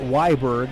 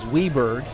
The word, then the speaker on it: Weberg: Barittle, it is not Weiberg, it is Weberg.